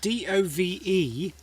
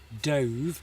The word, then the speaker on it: dove: Alessandra says, yes, D-O-V-E was using the word dove, as in the past tense for diving. But if you pronounce it dove, same spelling, different pronunciation, dove, that is a type of bird.